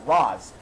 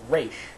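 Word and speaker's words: Ra's: like it should be race and not rods but like if you're making a movie about a character such as batman that has a guy in the series whose name is race you should pronounce it as race like i know this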